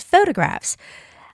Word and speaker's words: photographs: I always find my students having problem with saying the word photographs because they think because it starts with P, the pronunciation has to be P, photograph. But actually, PH is photograph with the sound is F.